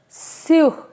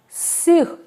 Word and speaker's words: sur: That is sur. S-U-R. Sur. Sur. Yes, please repeat after me. It is sur.